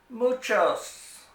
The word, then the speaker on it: muchos: learn the word for many and that is muchos muchos and that means many now some familiar